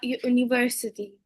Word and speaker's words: université: Je vais à l'université. À l'université, because here we have accent aigu à la fin, so we have to pronounce it.